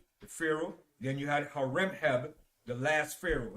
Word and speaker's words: Horemheb: Then you had Horemheb, the last pharaoh. His name is spelled Haremhab. Horemheb.